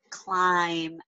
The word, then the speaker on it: climb: what's the silent letter can you circle the silent letter now the student will get that great awesome can you say this word climb excellent great job then sometimes if you're reading